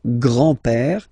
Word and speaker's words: grand-père: So, le grand-père, grandfather. Le grand-père. Remember, E accent grave like that. It's this opened pè, pè.